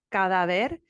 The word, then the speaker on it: cadáver: conocí que cuando un cadáver baila una canción, quizás debe uno considerar la falta de ritmo de cadáver. Okay. First of all, you're putting the emphasis on the wrong syllables.